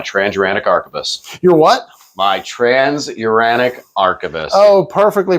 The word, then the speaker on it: Transuranic Arquebus: My Transuranic Arquebus. Oh, perfectly pronounced, sir.